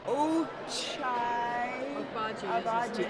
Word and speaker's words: Ochai Agbaji: Is Oshai, I can't pronounce his last name, I'm so sorry. It's like O-O, and there's J in it. Ochai Abaji.